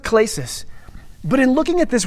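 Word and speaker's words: κλῆσις: It's pronounced klesis.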